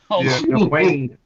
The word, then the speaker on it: Wayne: Yeah, Wayne. Wayne, like spell it. Whiskey, Alpha, Yankee, November, Echo. Wayne, not Wayne.